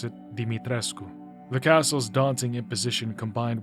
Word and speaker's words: Dimitrescu: Apparently you're supposed to pronounce it Dimitrescu.